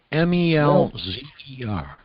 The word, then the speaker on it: Melzer: do you pronounce his his name melner m-e-l-z-e-r very well mispronounce it again melzer if I'm Mr melzer